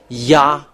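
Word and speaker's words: Yahweh: So w it's v not uh w. So the reality of reading is the reality of the reading is this one. Y V A H because uh the other how to pronounce is like this. So it's about the V the we are talking here is it V or W that when we saw it it's the so the name of the holy father is Yaha.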